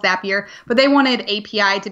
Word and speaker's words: Zapier: has one p and the way you pronounce it it should have two PS but yeah it is called zapier but they wanted api